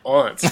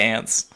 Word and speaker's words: aunts: We find out that their aunts are coming, or as you call them, I think you pronounce it aunts, don't you? No, I say ants.